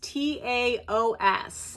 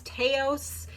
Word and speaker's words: Taos: So it's T-A-O-S. And I was thinking it was Taos, but they said it rhymes with mouse. So it's Taos.